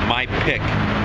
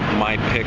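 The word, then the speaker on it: ไม่เผ็ด: don't like spicy stuff my pick say it like you know my pick of the litter you know say my pick and that means not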